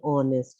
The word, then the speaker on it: honest: that an orange and honest man because h is silent over here and r h is